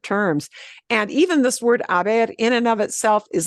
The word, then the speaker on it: haber: fit this in foreign h-a-b-e-r they're pronounced exactly the same but they are two totally different terms and even this word Aber in and of itself